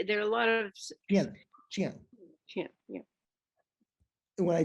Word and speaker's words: chien: Chien. C-H-I-E-N, le chien. Chien. Okay. I can't, when I, You don't put the N on the end. There are a lot of chien, chien.